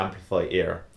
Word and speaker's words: Amplifiear: called the amplifier ear now that isn't just me mispronouncing something it's actually called the amplify ear now you'll see why